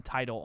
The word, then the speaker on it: Tidal: title is or just kind of leave Tidal, it there? Tidal. Title. Like Tidal Wave. That's how it's spelled.